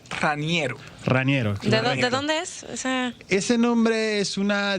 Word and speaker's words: Raniero: político presente en modo opinión tu nombre se pronuncia janiero raniero es ese nombre es una disputa que hubo